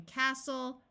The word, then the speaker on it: castle: end of the word is soul like in Castle wrestle note that when a word starts with w the W is silent so this word is wrestle Apostle and